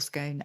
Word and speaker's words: scone: this in my show, do you say scone or scone? And most say scone. I have to say, I say scone. Looking at Gully. Gully says scone.